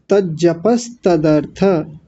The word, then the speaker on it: तज्जपस्तदर्थ: यहाँ आपने गलती की। तज्जपस तदर्थ, तज्जपस तज्जपस तदर्थ भावनम।